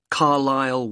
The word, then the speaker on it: Carlisle: 45 Carlisle Way. Could you spell Carlisle for me? Sorry. It's C-A-R-L-I-S-L-E. You don't pronounce the S.